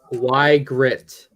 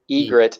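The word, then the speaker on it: Ygritte: Y Grit. It's Egret and no.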